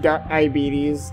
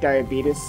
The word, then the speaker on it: diabetes: in the Myrtle here pronounced diabetes diabeetus it's diabetes oh my god that